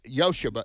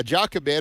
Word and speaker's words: Jochebed: It would be said Yosheba. It's spelled with a J. Jochebed. Yeah, Jochebed or Yosheba. You can do either way, but Jochebed, you pronounce the J, but in real Hebrew, the J is not pronounced, and it gets the Y sound.